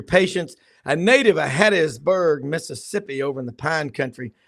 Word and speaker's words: Mississippi: That's 2 syllables, Mississippi.